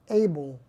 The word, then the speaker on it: Abell: catalog AC 1367 but when you pronounce it you call it able it's because there are